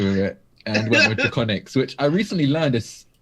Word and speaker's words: Drakoniques: I still pronounce it Draconics, but yeah, it's technically properly pronounced Drakoniques.